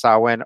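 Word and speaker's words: Samhain: me to think that most people don't know that sawin is pronounced sawin or that there's potentially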